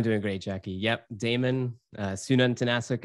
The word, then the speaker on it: Sununtnasuk: Sununtnasuk is how you pronounce the last name, but Damon is totally fine.